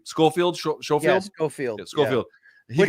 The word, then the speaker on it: Schofield: Of course, that was supposed to be, how do you pronounce the kid's last name? Schofield? Schofield? Yeah, Schofield.